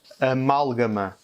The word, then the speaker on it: amálgama: Amálgama. Amálgama, ça veut dire amalgame. Et ça empêche qu'on prononce amalgame. Donc avec le A, avec l'accent, on comprend qu'on doit accentuer la syllabe sur mal, amalgame.